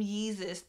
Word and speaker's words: Yeezus: and interview, or adopting the name Yeezus that obviously rhymes with Jesus in a pursuit as wealth as the ultimate marker of holy distinction from his peers.